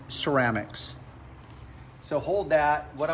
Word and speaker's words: Ceram-X: lift up that buffer this is the ceramics its spell it's kind of plan words it's like ceramic coating but it's ceramics so you just pronounce it ceramics so hold that what